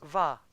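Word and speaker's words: Vah: How would you pronounce it? It's a VA.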